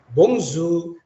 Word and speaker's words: bonjour: ini kalau diterjemahkan adalah bongzho itu Hello ya Jadi bukan bacanya Bonjour atau Bonjour ya tapi bungsu seperti ini j nya itu seperti mengucapkan huruf z jadi airnya konsonan di belakang tidak terbaca Bapak Ibu artinya Hello